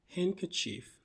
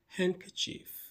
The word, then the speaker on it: handkerchief: And finally, we have handkerchief. Not handkerchief. The D is silent. Handkerachief.